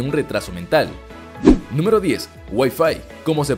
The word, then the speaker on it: Wi-Fi: transmisión de datos y a diferencia de lo que la gran mayoría de las personas cree su pronunciación es wi-fi precisamente por los vocablos que los conforman número 11 pato Donald